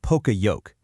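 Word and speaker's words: poka-yoke: It's a framework called poker yoke and it's a core strategy for getting beyond just finding defects and moving toward preventing them from ever happening in the first place. Pokayoke and it's pronounced pokayoke is a Japanese term that basically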